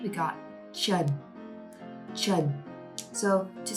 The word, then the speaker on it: Trần: ch, just like the ch in chalk or chocolate. Ch, Trần.